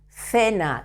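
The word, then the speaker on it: cena: in front of C in Spain we say like uh a little bit when you say in English thank you it's very similar thank you for example in the word fena that means it's feminine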